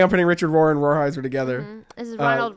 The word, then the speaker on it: Rolheiser: Rohrheiser.